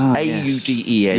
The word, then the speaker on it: Auden: Auden, I think that's how it's pronounced, A-U-D-E-N.